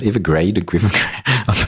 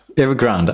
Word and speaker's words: Evergrande: How do you pronounce that? Evergrande? I just read. I think it's Evergrande. Evergrande.